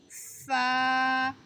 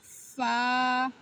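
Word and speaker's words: فا: ফা। উপরের দাঁত নিচের ঠোঁটের সাথে লাগিয়ে উচ্চারণ করতে হবে। ফা।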